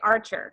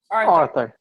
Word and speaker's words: Arthur: I want to say Archer. Is that how you pronounce it? Arthur. Okay, Arthur. Sorry about that.